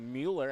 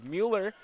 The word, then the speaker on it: Mueller: in front of me helping me on that pronunciation of Mueller after saying Müller there in the first half so always enjoy getting